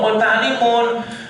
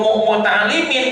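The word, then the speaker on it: مُتَعَلِّمُونَ: Salah harusnya kaumun muta'allimun, kami ini kaum yang sedang belajar. Tak iya kedahna. Bukan kaum muta'allimin mudah-mudah pilih tanpa tanwin. Nah, iya sudah mulai ada kesalahan pengucapan di zaman Umar.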